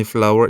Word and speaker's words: flour: I don't use any flour either. 저는 이때 이 단어는 우리가 알고 있는 꽃 있잖아요. 꽃이 영어로 flower이잖아요. 그거랑 발음이 동일한데 스펠링이 다릅니다.